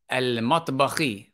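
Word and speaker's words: المطبخ: We say al-matbakhi. Fatimatu fi al-matbakhi. Why? Why do we, we pronounce the lam, right? We pronounce the lam, meaning that meme is a moon letter.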